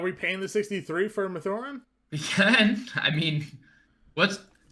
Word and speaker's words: Mathurin: And I'll pronounce his name correctly, fine. Apparently it's Mathurin. I just looked up the pronunciation there. Mathurin. I listened to him enunciate it, and it was Mathurin.